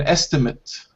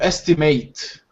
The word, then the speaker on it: estimate: So if it's a noun, we say an estimate. Estimate. If it's a verb, to estimate. All right, then we say it like 8.